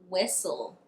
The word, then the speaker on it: whistle: If you see a word that ends in stle, it would be right to assume that the T is silent. Let me give you some examples. Whistle, wrestle, apostle, castle, thistle, hustle.